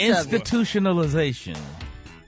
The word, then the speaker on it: institutionalization: You got to pull those syllables together. Which syllables he's not pulling together, Kate? Institutionalization. Institutionalization. Well, that's what I said. Oh, no, it's not. It's ta-ta, ti-ti-ta, ti-ti-ti-ti-ta-ta. Go ahead, Gary.